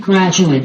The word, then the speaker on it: graduate: Chúng ta nhớ là graduate khi mà dùng với nghĩa danh từ hoặc tính từ thì âm cuối cùng của nó là âm schwa. Đấy, cho nên chúng ta không đọc là graduate mà chúng ta đọc graduate. Còn graduate là động từ.